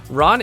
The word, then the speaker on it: Ran: Ran in this dub, like others we'll see, is pronounced like the English word ran.